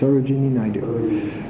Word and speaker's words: Sarojini Naidu: Naidu, Sarojini Naidu. Do I pronounce her first name right? Yes. Sarojini Naidu, whose poems have been translated into English, and they are elegant.